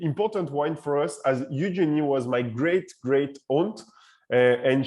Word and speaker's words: Eugénie: Eugénie. Is that correct? If I say it for English speaker, that would be Eugénie. If I say it the French way, it's Eugénie.